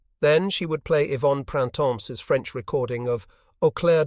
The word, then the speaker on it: Printemps: The girl's name is spelled Printemps, but you say it Printemps. You do not sound the final pièce, and she can really sing.